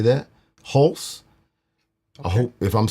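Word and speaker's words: Hulse: You butchered his name. It's H-U. Okay, you say it. H-U-L-S-E. Holes. Holes. Holes. I think it's Holes. Halsey. Is it Halsey? It's not Halsey.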